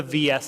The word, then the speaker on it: VS: Um, so this is the VS system. Yes, it is pronounced VS and it stands for versus, but it's not pronounced versus, it's pronounced vs.